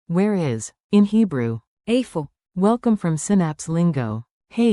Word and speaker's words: איפה: Today's magic phrase, where is, which in Hebrew is, Afo.